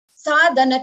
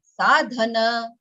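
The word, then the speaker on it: साधन: Sadhana Chatushtayam Kim. Shivani? Sadhan chatushtayam kim. Okay, again, same mistake. Huh? Sadhan chatushtayam nahi. Sadhana chatushtayam kim.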